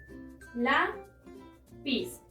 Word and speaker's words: lápiz: Lápiz. La es la sílaba tónica, es decir, la penúltima sílaba.